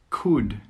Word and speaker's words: could: Could, could. Half, half. Walk, walk. Yoke, yoke. All of these words have a silent L.